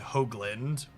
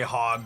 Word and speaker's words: Hoagland: Last name has a long O sound, Hoagland. But as long as you don't say hog, we'll be okay.